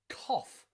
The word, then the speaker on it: cough: finish in a sound cough as in cough cough so sometimes g and h at the end of a word can be pronounced f as in cough and rough okay so practice these